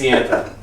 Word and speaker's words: Ianthe: How do you pronounce Iantha? I can't. No one knows. Raise your hand if it's Iantha.